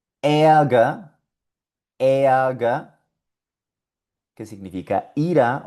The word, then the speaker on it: Ärger: Ärger, Ärger, que significa ira o enojo.